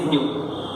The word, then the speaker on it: nu: This is nu. It is pronounced as nu. That is nu.